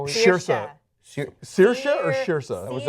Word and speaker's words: Saoirse: Right, Saoirse.